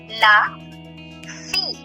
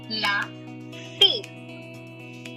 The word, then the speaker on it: la fille: Daughter is called, again, last letter silent and double L is also silent. La fille. La fille.